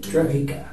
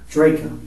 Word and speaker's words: Drejka: Interview will be concluded with, pronounce your name? Drejka. Drejka.